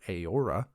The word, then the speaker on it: Eora: EO sounds like AO, as in the word Eora.